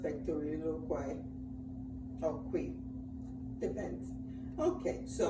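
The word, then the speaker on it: pectoriloquy: Yeah, but it's pronounced pectoriloloquy.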